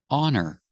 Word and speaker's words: her: diet again with her the H is silent because the word her is not a stressed word so you hear honor honor hon her diet